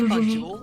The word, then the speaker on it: Banjul: Banjul. I rolled my tongue and pronounced it. You have to roll your tongue to say Banjul.